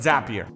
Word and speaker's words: Zapier: Pronounced not happier, but Zapier.